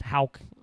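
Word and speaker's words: Haugh: Chimalu Congden um Thomas Hal somehow pronounced with the H A U G H. That's Hal.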